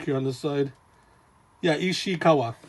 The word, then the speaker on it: Ishikawa: to guy and um another manga mangaka ken ishikara is i'm sorry did i mispronounce it uh i got another book here on this side yeah ishikawa ishikawa so because when you look through initially it's